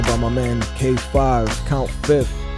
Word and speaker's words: Fif: my man K5 count fifth it's F huh that's what JB was just telling me man he said it's not fifth it's actually fif yeah you can pronounce